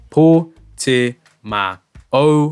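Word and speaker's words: Portimão: Yes, Motormeerkat, it's pronounced Portimao.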